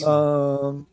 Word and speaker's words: Tsushima: Been playing a lot of Ghost of Tsushima, trying to say Tsushima right and put the emphasis on the right syllable. Nice. Tsushima.